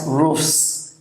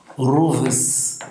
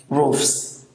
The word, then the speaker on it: roofs: knob foreign for example roof becomes roofs it is not Rufus no roofs a cliff becomes Cliffs it's